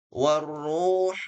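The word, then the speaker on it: وَالرُّوحُ: Malaikah tanazzalul malaikatu war hu bukan hu ya tapi huruf tipis hu beda dengan ha syahr ini tebal ya bukan tebal apa suaranya dari bagian bawah tenggorokan kalau ha dari tengah tenggorokan warruhu fiha biidni nah huruf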